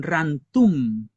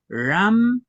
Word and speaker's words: ramtun: Las personas que están aprendiendo a hablar cualquier variante de la lengua mapuche dicen rantum. Hacen un cambio de la N por la M en las posiciones. Fíjense bien, es ramtun.